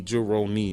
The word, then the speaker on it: Juhrownee: ] no more but j-u-h-r-o-w-n-e-e jerome and that's that's how you pronounce my name spelled differently because you know dominican moms get on it get on it yeah so but that's that's how it's pronounced so yeah yeah just